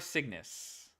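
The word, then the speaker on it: Cygnus: they compiled them S4 signis like the bird or like the constellation signis. I know that's spelled with a c y.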